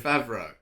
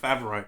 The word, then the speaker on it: Favreau: Yeah, that's Jon Favreau. That is how you pronounce his name. You're right. How do you pronounce his name? Favreau. Oh, right. Great. Favreau.